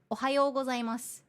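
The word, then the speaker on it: おはようございます: It's not Ohayo gozaimasu. It's Ohayo gozaimasu. You have to say more smooth, you know?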